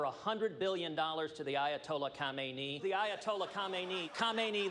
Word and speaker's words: Khamenei: One of my favorites was the awkward white guy Middle Eastern name pronunciations. This deal on its face will send over $100 billion to the Ayatollah Khamenei. The Ayatollah Khamenei.